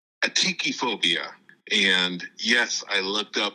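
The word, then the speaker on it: atychiphobia: is definitely a phobia of mine it's called atii phobia and yes I looked up how to pronounce it because I wanted to make sure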